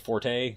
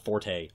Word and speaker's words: forte: is just fort not Forte really my it was never supposed to be pronounced Forte but people pronounce it Forte because it makes them